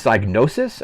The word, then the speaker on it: Psygnosis: It was don't know if I'm going to pronounce the developer's name correctly, but I think it's Psygnosis, I think is how it's pronounced.